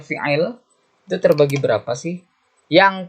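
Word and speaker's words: فعل: Fi'alun dibacanya fi'il, itu terbagi berapa sih?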